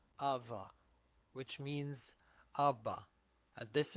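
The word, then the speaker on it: ⲁⲃⲁ: alpha vita vita alpha ava ava which means abba and this is the title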